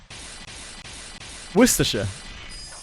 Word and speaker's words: Worcestershire: But it's actually not that bad once you break it down. It's just worse.